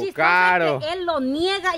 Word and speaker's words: Caro: Buenos días, Marielita, y por aquí también tenemos a buenos Karen. Caro. Él lo niega y a cada rato lo pronuncia.